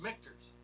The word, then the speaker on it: Michter's: Michter's. No, it's Michter's. That's the way I've always pronounced it, but I Michter's.